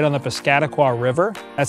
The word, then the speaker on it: Piscataqua: enthusiasts the city is located right on the piscataqua river that's how you say it by the